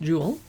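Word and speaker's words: Joule: restaurant seattle my hometown her restaurants jewel pronounced jewel is a term you probably learned about in high school physics class and probably forgot for a unit of energy so here's pictures from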